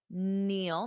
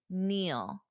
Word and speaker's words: kneel: Neil. Notice that pronunciation. The K is silent. When we have KN, the K is silent. Repeat after me. Neil. Neil.